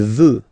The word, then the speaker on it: veut: Il veut, final T not pronounced.